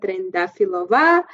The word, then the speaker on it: Trendafilova: to meet you yes my name is trendafilova for your listeners i'm from bulgaria country in